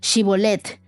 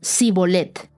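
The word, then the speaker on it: Shibboleth: Si decía que el hombre no lo soy, ellos le pedían que pronunciara la palabra Shibolet. Si era de Efraín, diría Sibolet, porque la gente de Efraín le cuesta pronunciar bien esa palabra.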